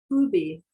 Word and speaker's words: ubi: Today we start with ubi, where. How to pronounce that? Ubi.